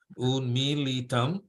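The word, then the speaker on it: उन्मीलितं: It's a long I. It's like E, right? Unmilitam yena.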